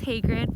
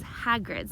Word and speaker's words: Hagrid: I've been corrected because I normally say his name is hatred but my fiance mr. or gosh insisted that it is Hagrid so we will be